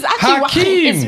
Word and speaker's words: Joaquin: It's actually Hakim.